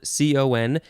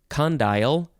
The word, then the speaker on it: condyle: It is spelled C-O-N-D-Y-L-E. It is a noun from 1634, and yeah, you can pronounce it condyle or condyle.